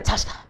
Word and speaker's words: Natascha: We're talking to Natascha. I'm trying to pronounce it right. Natascha.